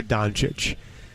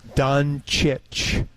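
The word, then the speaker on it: Dončić: the pronunciation it is done chich like Cheech but chich now they say that in Serbia it's Cheech but everybody here calls him chich and I think for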